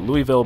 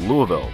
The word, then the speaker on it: Louisville: I've heard that is the proper pronunciation, not Louisville, but Louisville.